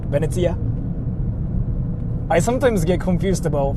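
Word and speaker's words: ベネチア: right it's freaking hilarious in Japanese that place is called uh beneta like that's how we freaking like pronounce it beneta I sometimes get confused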